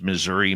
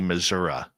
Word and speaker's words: Missouri: for our American friends why do some of you pronounce Missouri Missoura there is no a on the end sweet Robbie G I